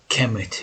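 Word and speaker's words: Kemet: of course chemet right kemmet is the a egyptological pronunciation of kmt right kmt look how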